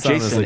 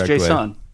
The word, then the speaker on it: JSON: definitely failed on is JSON. I I pronounce it like more JSON rather than JSON because like people will hear JSON and be like who what? Yeah, it's not Jason. It's JSON.